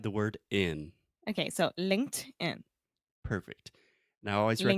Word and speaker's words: LinkedIn: Linked in.